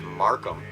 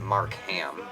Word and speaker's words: Markham: scene first of all it's pronounced Markham not Mark ham okay what self-respecting individual would pronounce it that way anyway not to mention it's